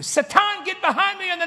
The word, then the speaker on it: Satan: Now, I said, Satan, and that's how you say it in Hebrew, Satan, get behind me in the name of Yeshua.